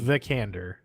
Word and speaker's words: Vikander: Vikander. I looked up on how to pronounce this earlier, so don't fucking call me out on my shit.